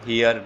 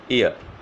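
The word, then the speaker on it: heir: N honourable, N honorary, N honorarium, an ईयर, इसको हियर नहीं कहते, इसकी साउंड क्या होगी, ईयर, उत्तराधिकारी।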